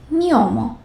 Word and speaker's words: gnomo: If there is G, then the next letter is N. How about that? Here is a tricky one. GN. Gnomo. Gnocchi. So it sounds like the one in Spanish.